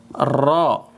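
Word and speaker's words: ر: Ini namanya ro. Ro r a. A a tulisannya. Cuman bacanya ro o. R o ro tebal.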